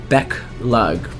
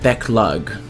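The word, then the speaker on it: Beq Lugg: their name last time it's like beug Beck lug and by learn their names I mean like the pronunciation cuz I feel like I was pronouncing their name wrong um Beck lug I think was the correct name and so before attending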